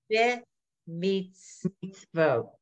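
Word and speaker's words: בְּמִצְוֹת: The beginning letter has an is sound, not an a sound. Eh? Be meets vote.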